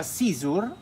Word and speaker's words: CZUR: Il nome si pronuncia Xur, anche se a me piace pronunciarlo Xur, ma si pronuncia Xur, e sul loro shop ci sono tre modelli.